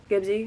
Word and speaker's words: Gibsy: my favorite character is gibsy gibsy is how you say it they have like names